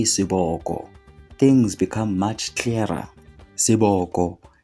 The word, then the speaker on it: Sobek: The name Sobek is actually a mispronunciation. Initially, this term is translated into SBK. When we add the vowels to this SBK, we get the word Siboko instead of Sobek. Because Sobek really doesn't mean anything, but when we say